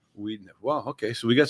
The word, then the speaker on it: Wiedenheft: It's German, and in German, we have two vowels, W-I-E in German. The second vowel is long, as in diesel. Okay. It's not diesel, it's Right. diesel. So Okay, it's not pronounces- Weidenheft, it's Wiedenheft in German.